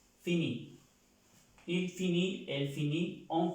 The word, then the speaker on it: finit: La tercera persona del singular se pronuncia igual que estas dos personas, pero ya termina en una T. Fini.